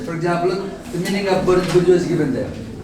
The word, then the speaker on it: bourgeois: Our epoch, the epoch of the bourgeoisie. Two words, look here. bourgeoisie. We pronounce it as bourgeoisie.